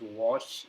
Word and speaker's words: Warsh: Uh Kevin Walsh uh pronounced as Walsh O W A R S H was born